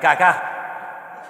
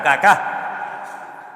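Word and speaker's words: Kaká: Había un jugador que se llamaba, menos mal que tenía el acento en al final cacá. Caká, no caca, sino cacá.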